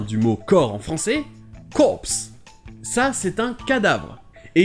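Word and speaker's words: corpse: mot qui vient du mot corps en français corse ça c'est un cadavre est ici vous pouvez voir qu'il ya un e à la fin et le pay prononcé cops donc quand c'est un corps militaire et corse c'est un cadavre vous trouvons aussi un pmu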